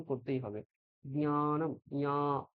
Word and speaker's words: জ্ঞানম: সংস্কৃতে কিন্তু জ্ঞানম, এখানে দুটো অক্ষর হালকা ভাবে প্রকাশ পাবে, একটা জ আর একটা ঞ। জ্ঞানম। হ্যাঁ, এইরকম হবে জ্ঞানম। ঠিক আছে? ওটা বাংলায় আমরা জ্ঞানম বলি, এই জ্ঞানমটা সংস্কৃতে ভুল উচ্চারণ।